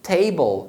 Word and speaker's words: table: sílaba termina na vogal, você vai pronunciar a vogal com o som longo, que é o som igual do alfabeto. Como é a letra A no alfabeto? A. Então por isso que table é pronunciado com o som de A.